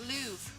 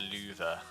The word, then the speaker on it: Louvre: words are unreal the louvre that's it the louvre the louvre oh wait yeah that's how they say it in french louvre louvre yes the louvre